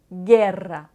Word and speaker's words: guerra: Le U est un peu spécial parce qu'il est muet devant le I et le E.